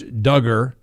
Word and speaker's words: Duggar: have the video where josh duggar rhymes with hugger can um uh say